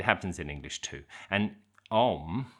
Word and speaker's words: Om: And om although it's written with three letters is pronounced with two sounds.